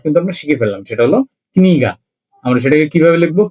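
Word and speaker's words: книга: নতুন একটা ওয়ার্ড কিন্তু শিখে ফেললাম সেটা হল কিনিগা আমরা সেটাকে কিভাবে লিখব কে এননি গেনি গাগা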